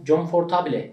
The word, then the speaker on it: comfortable: Comfortable diye yazılan comfortable sözcüğünün comfortable diye bir telaffuzu İngilizce'nin kabul gören hiçbir aksanında yok. Anlaşılabilirsin, birisi comfortable dediğinde seni anlayabilir. Ama yani comfortable, aradaki R de söylenmiyor. Comfortable.